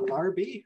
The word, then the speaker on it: Larbi: welcome thank so much I hope I pronounced your name correctly and it is yes it is it's larby and then H the Resort's actually called Inspire